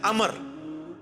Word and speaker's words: Amr: था अच्छा लेकिन वो लफ्ज़ गलत है लफ्ज़ उम्र तो कोई लफ्ज़ नहीं है लफ्ज़ है अमर लिखा होता है उम्र लेकिन उसका मतलब वो जो है वो साइलेंट होता है और वो का मतलब यह है की आपने इसे पेस की बजे उम्र की विजय पढ़ना है अमर तो हजरत अल्लाह इसका